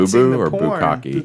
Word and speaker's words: bukkake: bukkake? Bukkake. I was like, is this boo cake? That's how I always used to pronounce it.